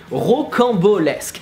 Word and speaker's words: rocambolesque: So the beginning is ro. How to pronounce that? Ro. Then camp. Well, camp is actually pretty easy. It's like camp, but without the English accent. So, camp. Beau is like Dave Bautista. And lesque. Just repeat.